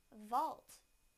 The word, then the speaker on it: vault: Now the v sound in the word vault.